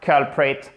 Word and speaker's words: culprit: Niveau intermédiaire, culprit, culprit. Ok? Accent tonique sur la first syllabe.